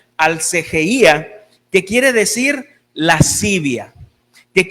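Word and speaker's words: ἀσέλγεια: Hermanos, y esta palabra, libertinaje, viene de una palabra griega que quiere decir, que se pronuncia alcegeía, que quiere decir lascivia, que quiere decir libertinaje sexual, repugnancia o disolución.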